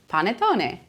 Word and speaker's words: panettone: And last but not least, a Christmas classic, panettone. Panettone. Panettone. Not panettone, not panettone, panettone. Panettone.